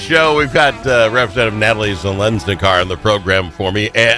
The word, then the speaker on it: Zeleznikar: We've got Representative Natalie Zensar on the program for me with me.